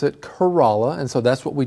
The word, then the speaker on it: Corolla: If I just saw this word printed, I would absolutely pronounce it that way. Corolla, right? Corolla. Yeah, that's what I thought as well, but I heard that the locals pronounce it Kerala, and so that's what we just heard in